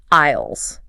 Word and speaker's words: aisle: The S is completely silent. Yes, you do not say the S at all. You just say aisle.